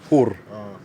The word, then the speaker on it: hur: Hej, hur mår du? Hej, hur mår du? Hey, hur mår du? Exactly. Like who bites you? Hur is like Hur. how. Hur.